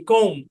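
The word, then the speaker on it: comb: শব্দের শেষে এমবি থাকলে বি সাইলেন্ট, যেমন এল এ এম B lamp, B ও এম বি বম, সি ও এম বি কোম, এন ইউ এম বি নাম, THUMB থাম, CLIMB claim, PLUMB plum, PLUMBER plumber, NUMBER number.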